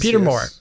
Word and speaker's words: Peter Moore: Peter Moore.